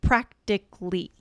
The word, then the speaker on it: practically: So practically 3 syllables there, right?